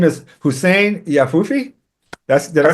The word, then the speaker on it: Hussein Yahfoufi: His name is Hussein Yahfoufi.